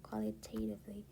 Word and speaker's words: qualitatively: 강세가 qualitatively 강세가 여기 있어야 돼. 그래서 나는 원래 qualitatively라고 T에 강세가 있다고 읽었지만 그게 아니라 여기 강세가 있게 이걸 K라고 읽어야 돼.